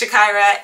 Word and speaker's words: Zshakira: hello welcome to my youtube channel it is Shakira I don't say it enough my name is Shakira people ask me how do you say your name its Shakira and I welcome you to my page if